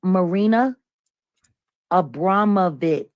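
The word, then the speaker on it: Marina Abramović: Number one, her name is Marina Abramovich.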